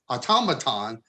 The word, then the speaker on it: automaton: that's really more mechanical automaton there's a a an accent on the second syllable there's adam amazon and